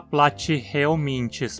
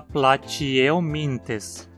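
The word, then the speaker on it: Platyhelminthes: O mesmo acontece com platyeominthes, pois a penúltima sílaba, min, termina em consoante também. E olha só, não vai falar platyeominthes pronunciando o H. Em português não se pronuncia os Hs em nomes científicos. Então diga platyeominthes.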